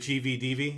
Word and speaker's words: GVDV: So is that how you pronounce it? Is it GVD? Is it GVDV?